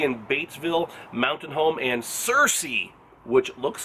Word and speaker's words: Searcy: we're gonna be in Batesville Mountain home and Searcy which looks like it's spelled C or C but it's pronounced Searcy so Arkansas woo pig sooie coming your way